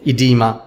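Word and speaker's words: oedema: edema is pronounced as edema even if o is there it is silent okay so remember colloidal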